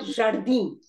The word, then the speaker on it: jardim: The sound of I, it has jardin. It also has stress on the second last syllable. Now, I am in Portuguese is just I nasal. It's not im. It is not im. I am and IN has got the same nasal sound.